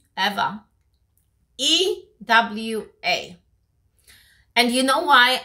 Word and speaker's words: Ewa: otherwise people call it Ewa. That's how the spelling is. It's E-W-A, but it's Eva.